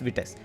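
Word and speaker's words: Vitess: is called as this vts sorry it's not wheat it's vts so with this is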